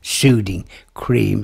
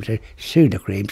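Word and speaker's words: Sudocrem: The Dubliners didn't bother pronouncing it Suding Cream, Sudocream.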